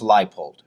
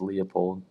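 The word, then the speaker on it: Leipold: easier said and done his name is pronounced lipold there we go oh i wish it was leopold but lipold here we are going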